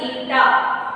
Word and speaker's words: eta: Here we are learning one symbol, it is called as eta. How we have to write? Pronounce it eta.